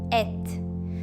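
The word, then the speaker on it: את: Pronuncia-se et.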